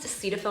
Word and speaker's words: Cetaphil: like hey you know it's pronounced deceitful not cetaphil he's like wait what